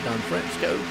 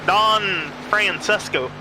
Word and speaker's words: Don Francesco: Shaughnessy out front, Underwood, Don Fresco. I hope I said it right, Don Fresco. He's bringing the high line to life again. I think it's Don Francesco. Francesco, okay, cool.